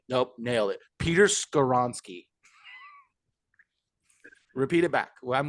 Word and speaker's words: Skoronski: I'm thinking at pick 20 that you're gonna go with Peter Skorinski Peter out of North Skoronsky.